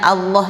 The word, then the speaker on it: Allah: bismiud ketemu lafaz Allah bacanya Allah ini spesial karena bisa dibaca tebal dengan O ya O yang tidak keluar dari bibir atau dibaca dengan tipis dengan a ya nah kapan dia dibaca